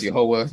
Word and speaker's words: Jehovah: They're just highlighting things briefly on the screen, which we pronounce here as Jehovah. Many people pronounce as Yahweh.